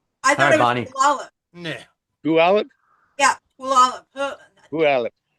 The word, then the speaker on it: Puyallup: How do you pronounce the name of the city you guys live in? Puyallup.